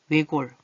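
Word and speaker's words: 외곬: 외골. 거의 하나밖에 없다고 볼 수가 있어요. 얘는 리을로 소리 나요. 외골수. 한편으로 치우친 사람을 말할 때 쟤는 외골수야. 이렇게 말하죠. 그래서 여기도 리을로 소리가 나요.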